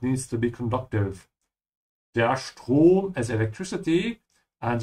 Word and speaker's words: Strom: Der Strom is electricity. And remember that whenever the S comes before a T in German, it's pronounced like sch. So make sure to say Strom.